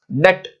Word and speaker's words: debt: डेट, DEBT, जहां कहीं पे भी देखिए, ध्यान रखिए, जहां कहीं पे भी इंग्लिश में बी और टी साथ में है, वहां पर बी का प्रोनाउंसिएशन नहीं होता, तो इस शब्द का प्रोनाउंसिएशन हम लोग करेंगे डेट्स।